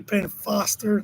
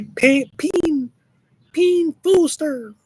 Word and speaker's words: Penn Foster: It's actually Penn Foster. They were too advanced in English, so we're getting like a more moderate way to pronounce things. So people say Peen Foster, Foster.